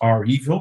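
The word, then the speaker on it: REvil: actually pronounce the name that's pronounced are evil because it's based on the movie title resident evil they play on it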